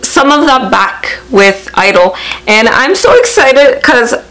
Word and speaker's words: (G)I-DLE: you just call it Idol from what I've seen from them on like on there what is it their first showcase it is just pronounced I don't like the G is silent so that is what